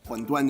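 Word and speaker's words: 馄饨: So what's interesting about these Shanghai huanduan, huanduan is how you say in Mandarin, how you say wonton.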